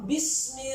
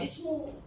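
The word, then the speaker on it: بسم: Iqra bismi rabbik. Enggak bismu. Nah, huruf ujarnya ada banyak.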